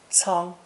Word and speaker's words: 仓: It's pronounced first tone, 仓, 仓.